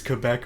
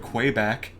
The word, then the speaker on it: Quebec: a man who hates quebec more than this man right here the fact that you say it like the french well if i say it okay i could call it quay back crazy quack i stand